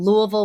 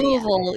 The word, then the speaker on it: Louisville: bigger like metropolitan area Louisville yeah that's you said it like somebody from there though because I would say Louisville that's right Louisville or Louisville yeah Louisville we slur it together but so I guess